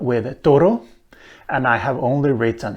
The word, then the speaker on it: Turru: Now, if we add an extra syllable, we get many more words that rhyme with turru, and I have only written 4 here, as you can see.